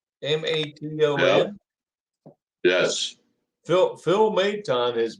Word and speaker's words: Maton: Maton.